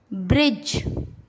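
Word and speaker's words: bridge: Rule, जब जी से पहले डी आता है तब डी साइलेंट होता है। जैसे ब्रिज, एज, हेज।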